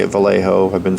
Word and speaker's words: Vallejo: And yes, I say it Vallejo.